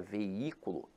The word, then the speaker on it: veículo: esse jogo infelizmente agora a palavra veículo apesar de ter e ato veja que a sílaba tônica se encontra na antepenúltima sílaba então aqui ela é